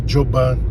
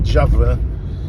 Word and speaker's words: Djavan: Tem um cara que fala assim, chamou o Djavan de Djoban. Aí eu falei, não, a pronúncia é Djavan.